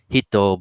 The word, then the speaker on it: Hit: in the Japanese dub they would call this one guy hitto but in Japan that's how they pronoun that how they say it and in America his name was just simply uh simplified as hit some people liked it